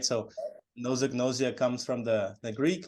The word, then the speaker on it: anosognosia: How do you pronounce it? It's a fancy word, like you said. Yes. So anosognosia.